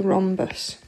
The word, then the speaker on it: rhombus: with our age okay the H is silent and this shape is called a rhombus okay and the special